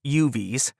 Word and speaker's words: UUV: Kansas had four UUVs, pronounced UVs, tucked away in a back corner of her torpedo room.